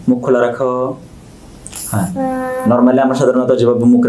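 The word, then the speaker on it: ح: হা, হার উচ্চারণ কোত্থেকে হবে? গলার ভিতর থেকে।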